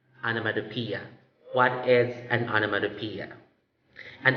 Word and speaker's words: onomatopoeia: will be sharing to you examples of animatopia onomatopoeia seems like a tongue twister right really i agree it's tongue twister ish but with practice it can definitely get the pronunciation anamadopia what is an onomatopoeia an onomatopoeia is a